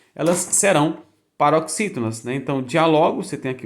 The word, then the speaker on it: diálogo: palavra que é a palavra que é diálogo diálogo Se você pronuncia terminado em Olha sábio terminado em Ok